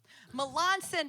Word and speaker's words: Melancon: Melancon, because I said it wrong yesterday, and so now I have to practice.